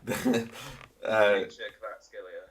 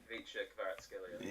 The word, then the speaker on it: Kvaratskhelia: Vicha Kvaratskhelia. Sorry, go on. Vicha Kvaratskhelia.